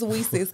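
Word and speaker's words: WiCyS: security and it's pronounced Weis like we sisters okay I see I never knew how it was pronounced like I said I met a lot of people say Weis but it's it's Weis like we sisters yeah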